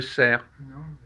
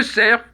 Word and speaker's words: cerf: ou à auxerre bon j'ai vu le sert dans les bois je prononce pas le f non